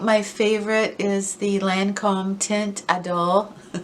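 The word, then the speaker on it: Teint Idole: But I think my favorite is the Lancome Tint Adole. I used to call it the Lancome Tint Adelaide, and I would get like hate every single week, like, why can't you pronounce that makeup?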